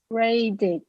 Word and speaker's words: raid: Raid, you hear that final D. You use your voice to make that final D. And if you use the voice to make the final D, then you must use